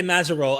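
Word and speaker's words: Mazerolle: I know Mitch, and I always say Mazarol. Am I pronouncing that correct? Yeah, it's correct. Yeah, the E is silent. It's like a French Acadian name, so the E is just window dressing.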